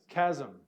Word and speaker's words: chasm: but it's not a it is a k as in the word that we probably I can't remember what language we took this from but how do you say that word Chasm uh I like to